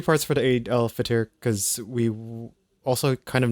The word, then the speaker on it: Eid al-Fitr: How do you pronounce this? Eid al-Fitr. Eid al-Fitr, which is the festival of breaking fast.